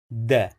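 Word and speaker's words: د: The one sounds like D. It is this one. And when I add fatha, da.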